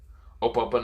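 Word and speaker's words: Ope Ope no Mi: it's nothing what's it open to me or what am i saying something wrong okay i've been saying it wrong it's ope yeah so just open open no me so of course he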